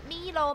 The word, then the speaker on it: mL: 而真正读音其实是，其实是 ml，并不是多少墨，这念成 mil 才对，而是全名叫 milliliter。